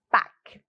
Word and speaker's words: Pâques: Então, a pronúncia, vocês podem repetir aí na casa de vocês, é simples, ó, não pronuncio o S que tá aí, eu digo Pâques, né, Monsieur Lapin?